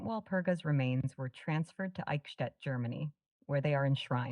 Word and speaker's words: Eichstätt: It's pronounced Eichstätt, with the ch sound similar to the ch in the Scottish word loch.